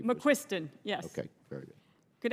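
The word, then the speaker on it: McQuiston: McQuisten, you are now recognized. Thank you. Am I pronouncing your name correctly? McQuisten, yes.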